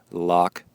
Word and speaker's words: Loch: The longest swim section is 2K across the 230 meter deep and very dark Loch Ness. That is really cool. Again, that's the Loch, and you spell that L-O-C-H, Lac Gulac.